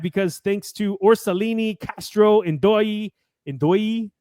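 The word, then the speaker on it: Ndoye: thanks to Orsolini, Castro, Ndoi, how to say it? It sounds weird to put the Doi, but yeah. I want to say Ndai for some reason, but it's definitely an O.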